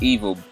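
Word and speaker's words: EVOL: But anyways, he's doing this mixtape, and it's pronounced like evil. That's love spelled backwards.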